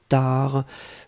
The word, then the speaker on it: tard: Hein, donc TARD, on ne prononce pas le D.